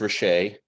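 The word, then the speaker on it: Rasiej: I know it's pronounced Roche, Okay.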